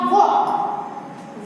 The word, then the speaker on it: walk: वॉक। वॉल्क नहीं, क्या? वॉक। इसमें एल का हम प्रोनाउंसिएशन यानी उसका उच्चारण हम नहीं करते हैं। एल है वो साइलेंट है।